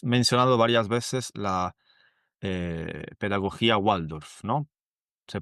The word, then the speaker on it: Waldorf: vale, y has mencionado varias veces la pedagogía Waldorf, ¿no? ¿Se pronuncia así? Sí. Sí, Waldorf en realidad, porque la B corta en alemán, ¿viste?